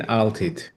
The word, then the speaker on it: Altit: And it's Altit. How do I pronounce the last name? Altit. Altit.